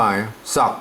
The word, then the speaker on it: ซัก: เหมือน กัน นะ ครับ ซัก นะ ครับ อ่า ซัก อัน นี้ ภาษา ไทย เพิ่น อ่าน ว่า สัก นะ ครับ เสียง เอก มา อ่า สัก ก็ ใส่